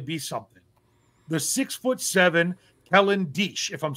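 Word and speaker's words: Diesch: The 6'7" Kellen Deesch, if I'm saying his name right. It's D-I-E-S-C-H. I'm pretty sure you pronounce it Deesch.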